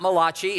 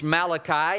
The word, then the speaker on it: Malachi: it's it's it's not Malachi it's Malachi and it's not Malachi okay it's Malachi and he is the